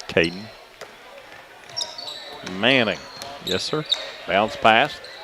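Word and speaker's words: Caeden: Caden, C-A-E-D-E-N. Or maybe that's, I would pronounce it Caden.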